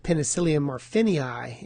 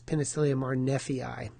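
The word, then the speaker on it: Penicillium marneffei: You might have heard of penicyium marphinei. Actually, it's penicyium marfi.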